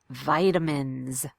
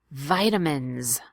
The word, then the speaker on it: vitamins: a D and say vitamins vitamins vitamins good and the S at the end is pronounced as a buzzing Z you'll fear feel buzzing